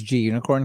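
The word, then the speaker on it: gunicorn: i'm pretty sure it's g unicorn because it's short for green unicorn so the last bit should still be pronounced unicorn so i'm gonna go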